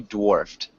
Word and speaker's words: dwarfed: Maybe dwarfed. Dwarfed. Yeah. So it's a D with a it's war with a D in front of it.